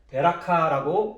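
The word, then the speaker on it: בְּרָכָה: 이때 여기 축복함은 베라카라고 이렇게 히브리어로 발음을 하는데요.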